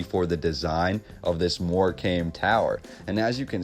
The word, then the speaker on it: Morecambe: Now it's spelled Morecambe Tower, but the B is silent. So you could pronounce it as Morecambe or the Morecambe Tower.